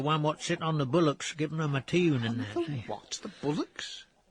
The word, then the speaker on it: bulwarks: Bullocks? That's spelt bulwarks. Dennis. But that's pronounced bullocks.